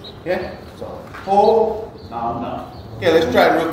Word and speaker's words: Hōnaunau: So it would be ho nau nau. Okay? So ho nau nau.